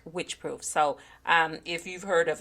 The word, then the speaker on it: Wycheproof: you, it's spelled Wycheproof, and I heard the pronunciation of it, and it is Wycheproof. Of course, it was an Australian accent, but still, to me, it sounds like Wycheproof.